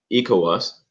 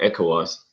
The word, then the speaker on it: ECOWAS: of West African states dubbed eco us or echo us whichever way you want to pronounce it was formed in 1975